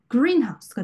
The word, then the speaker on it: greenhouse: 그런데 형용사와 명사로 이루어지긴 했으나 이 두 단어가 한 단어로 복합어가 되어서 새로운 의미를 나타낼 때는 앞에 있는 단어에 강세를 줍니다. 그래서 greenhouse, 온실이라는 단어로 새롭게 탄생한 단어잖아요. 이럴 땐 greenhouse가 되고 blackboard, 칠판이라는 의미로 다시 새로운 의미를 가진 이 단어에는 앞에 부분에 강세를 주는 경향이 있다.